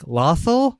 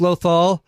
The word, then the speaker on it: Lothal: was running the trivia actually mispronounced loal and she's like lothal I think that's how it is and half the crowd is like it's loal and the best part